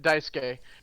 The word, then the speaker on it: Daisuke: uh uh daisuki daisuki they don't pronounce the u that's right daisuke as daisuke is essentially